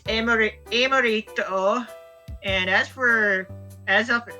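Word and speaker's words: エムリット: Like Yuxi, we pronounce it as Yuxi because I suppose its Japanese name is actually pronounced as Yukushi. As for Mesprit, it's Emorito, and as for Azelf, it's Agunome.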